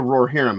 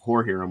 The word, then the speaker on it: Rohirrim: yeah War of the roar herum I have to actually say it right otherwise I'm going saying roar of whum which I do all the time um but uh but